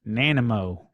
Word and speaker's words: Nanaimo: key three times and he says that it's pronounced Nana mo you like story my family and I went to Hawaii in mid 80s and we went into a small bakery and there was Nanaimo bar sitting on the shelf I thought that's